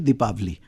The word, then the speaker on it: दीपावली: Diwali is दीपावली हम दीपों के त्यौहार को दिवाली बोलते हैं। हां दिवाली तो वैसे हो गया। Actually it इज दीपावली। जी हम तो जब स्कूल में लिखते थे तो टीचर हमसे दीपावली लिखवाती थी। पी साइलेंट हो गया।